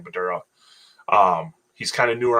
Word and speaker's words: Badura: I think it's how you pronounce his last name, Badura.